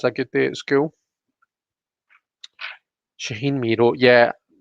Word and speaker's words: Shaheen: Shaheen Miro, yeah, it's Shaheen, isn't it? I was worried that I'd got his name wrong there, but that's it.